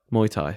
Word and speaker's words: Muay Thai: now I know you're getting some like my Muay Thai how do you say it Muay Thai Muay Thai that's it what's your plans now mate let